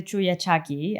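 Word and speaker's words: chullachaqui: Oh um the so in in Spanish we say the chuyaki. I love how you know the you have to teach me how to pronounce it so that people can um understand when I'm saying the word as well.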